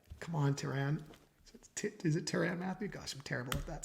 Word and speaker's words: Tyrann Mathieu: Is it Tyrann Mathieu? Gosh, I'm terrible at that stuff. I'm terrible with names, guys. I read way too much and do not watch with the volume on nearly enough. Tyrann Mathieu, I believe, is the proper way to say